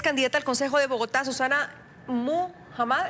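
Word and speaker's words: Susana Muhamad: Susana Muhammad, ¿estoy pronunciándolo bien? Sí, perfecto.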